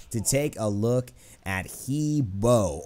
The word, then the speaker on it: He Bo: take a look at hebo or Haba how he's actually pronounced Haba uh the Chinese Mage